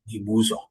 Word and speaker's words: Ibusa: now and resides to Ibusa but still the pronunciation remains the original name Ibuza.